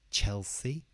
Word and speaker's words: Chelsea: we've got Burnley Burnley Chelsea Chelsea so the stress is on the first part Chelsea here we've got